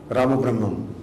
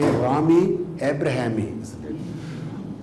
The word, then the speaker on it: Ramabrahmam: has centralized, you know, how you should pronounce Ramabrahmam. When I was in Sweden, many people called me Rami Abrahami.